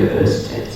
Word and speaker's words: Ørsted: 这个丹麦文，so in Danish a word like this is pronounced as 就是它的发音很可爱，就是它叫 Ørsted。